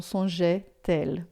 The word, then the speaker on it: songeait-elle: Então, songeait-elle, tá? Não se preocupe com a pronúncia desse E aqui, porque ele só existe para não ficar songe, tá? Esse E aqui você não vai falar songe, mas você pode